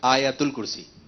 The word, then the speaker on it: آیت الکرسی: تھوڑی توجہ فرمائیں۔ جی جیسے یہی چل رہا ہوتا ہے کہ آیت الکرسی آیت الکرسی، اس کا درست تلفظ ہے آیت الکرسی۔ ماشاءاللہ، آیت الکرسی۔ ماشاءاللہ۔ آیت الکرسی کون سے پارے میں، کون بتائے گا؟